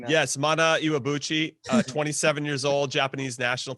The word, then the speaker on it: Mana Iwabuchi: Can we get Jimmy pronouncing that? Yes, Mana Iwabuchi, 27 years old, Japanese national team player.